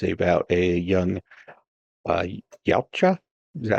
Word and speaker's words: Yautja: It's about a young Yautja. Is that how you say it? Predator? Yeah. Yautja.